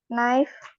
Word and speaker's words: knife: Satu lagi silent K. Knife Knife.